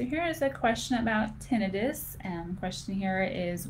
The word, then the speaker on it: tinnitus: And technically it's tinnitus, but you can pronounce it either way.